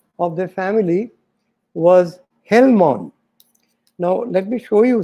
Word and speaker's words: Gell-Mann: But this letter is pronounced H in Ukrainian, but G in Russian. Now, Russia had conquered, invaded, and occupied Ukraine for centuries during the Middle Ages. So during this time, the name, they began to pronounce it as Gell-Mann.